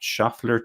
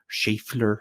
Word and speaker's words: Schaeffler: That's, of course, the Audi Sport Abt Schaeffler team. Schaeffler, I should say.